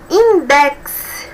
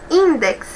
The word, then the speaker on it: index: Index. Observe, index é uma palavra paroxítona, como nós podemos observar, né?